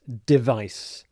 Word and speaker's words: device: So, here's the first of the 20 words, and it's device. Device. So you'll notice when I say it, the stress is on the second syllable. Vice device.